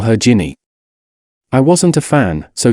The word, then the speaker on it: Ginny: had one she said we could call her Ginny I wasn't a fan so to dissuade her I insisted on pronouncing it Jenny and telling her I couldn't hear a difference